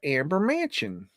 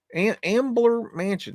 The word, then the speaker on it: Ambler Mansion: But as I was looking at that, this caught my eye, the Amber Mansion. Ambler Mansion, excuse me, I'm saying it wrong.